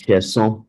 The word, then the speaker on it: Sheson: Raymond says he wants to hear the correct pronunciation of Sheson. And I guess, Raymond, you've heard that is Sheson, but don't worry, anything you call me.